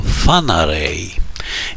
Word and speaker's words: Whangarei: który ma korzenie maoryskie okazało się że prawidłowa wymowa to fanaryj i takiej będę się